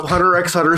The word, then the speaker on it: Hunter x Hunter: skuru DD so yeah apparently you do not say the X on this one so Hunter x Hunter Squad represent we're in